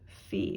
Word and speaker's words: fi: a sharp so we actually use a different syllable for that and it is called fee so i'm just going to circle that because